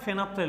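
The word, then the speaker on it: phenolphthalein: আর পি দুটো আছে, কিন্তু বলার সময় ফেনাপথ্যালিন, ল উচ্চারণটাকে সাইলেন্ট করে দিও, ফেনাপথ্যালিন বলতে পারো।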